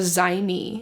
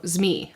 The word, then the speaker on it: zmei: ex is a dragon zme Y what how do you pronounce that her ex was a dragon oh zi okay that makes sense it says her ex